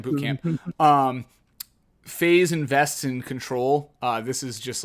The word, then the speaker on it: CTRL: For clarification, CTRL, in case that means something else, I'm pronouncing it as Control.